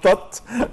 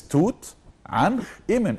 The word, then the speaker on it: Tutankhamun: There is nothing called Tut. There is nothing called this Tut. No, it's Tutankhamun.